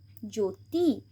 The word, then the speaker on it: জ্যোতি: আবার এখানে ও আছে, ওকার আছে, ওকার আছে, তাই জফলার উচ্চারণ হবে না। জ্যোতি, জ্যোতিষ, এখানে দীর্ঘও আছে তাই জফলার উচ্চারণ হবে না, দীর্ঘ উকার আছে তাই ন্যূনতম।